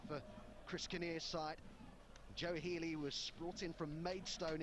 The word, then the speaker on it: Healy: And his name's Healy, not Keeley. So it's Healy that's come on for Dover, wearing the number 26 shirt.